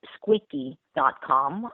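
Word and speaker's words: Squeeqee.com: okay I found it squeaky calm it pronounced like the word squeaky clean but we spell it differently s QE e QE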